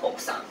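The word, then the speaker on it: 奥さん: और अगर मुझे वाइफ की बात करनी है तो ओक्सा, ओक्सा। नॉर्मली हम यू को नहीं प्रोनाउंस करते, वो साइलेंट ही रहता है, तो ओक्सा।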